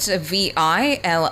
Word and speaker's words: vilipend: And your word of the day is spelled V-I-L-I-P-E-N-D, spelled V-I-L-I-P-E-N-D.